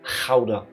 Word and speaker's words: Gouda: When speaking Dutch and you see a G, basically just pretend you try to get phlegm out of your throat. Gouda. Not Gouda, not Gouda, Gouda.